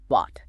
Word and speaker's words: bought: It simply makes a pure a sound. B I A T. Bought got it rhymes perfectly with caught like catching a ball or taught like a teacher.